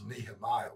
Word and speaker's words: Nehemiah: see but anyway yeah the way he's pronouncing he's like something else but it's nehemiah we said okay so